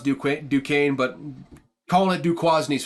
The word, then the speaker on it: Duquesne: Virginia beat new quasney it's I know it's pronounced Duke Duquesne but calling it du quasny's funnier to me so I'm just going to call it du quasney uh they beat him 56-17 though nothing to